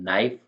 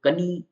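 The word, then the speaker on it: knee: होता है स्पेलिंग है नाइफ नाइफ का मतलब होता है चाकू नी नी का मतलब होता है घुटना अब इसको कनी ऐसा नहीं बोलेंगे नक नक मतलब होता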